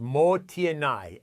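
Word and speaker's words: もったいない: It's called mottainai, pronounced motienai, and it expresses a sense of regret over waste.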